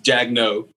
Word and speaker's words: Jagneaux: It's Jagneaux, but Jagneaux. It's they added way too many letters.